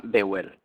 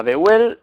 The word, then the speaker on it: Vehuel: Como hemos dicho, se llama Beuel. Si lo partimos en 3 sílabas será Beuel. Su número es el 49.